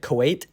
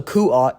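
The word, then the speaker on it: Kuat: drivey guards and yes I finally pronounced it right make sure let me know down below I was pronouncing it Kuwait this whole time so yeah uh that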